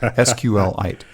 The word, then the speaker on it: SQLite: want to pronounce it I heard today that's actually SQL like meteorite sqlite okay I'll go with